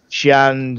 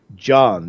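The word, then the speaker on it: Xi'an: But Xian, Zion, whatever. I know Chris Roberts calls him John, doesn't he? John. John. Yeah. So we'll have to call him. Use that, won't we? Because that's the official pronunciation.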